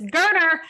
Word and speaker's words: Geriner: bummer specifically for Holden Geriner, which they specified on the broadcast that his last name is pronounced like Turner with a G. And I have been saying Geriner, and I apologize. So it's Geriner.